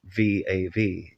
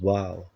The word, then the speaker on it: vav: of the word VAV V A V is a palindrome meaning it reads the same in Reverse pronounced VAV in modern Hebrew its old pronunciation was wow fitting because it is